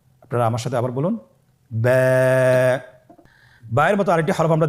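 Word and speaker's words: ب: আমাদের স্ক্রিনে চলে এসেছে বা হরফটি কীভাবে উচ্চারণ করবেন? বা হরফে টান হবে, এক আলিফ টান। আপনারা আমার সাথে বলুন ব্যা। আবার বলুন ব্যা।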